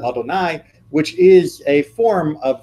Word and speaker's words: Adonai: the word lawyer because we pronounce it as the word Adonai which is a form